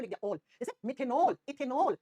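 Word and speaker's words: मेथेनल: ठीक है, जैसे AL को अपन जनरली प्रोनाउंस कैसे करते हैं, एल करते हैं, लेकिन होता अल है। अब जैसे मैंने कहा मिथेनल, इथेनल, मिथेनल, इथेनल।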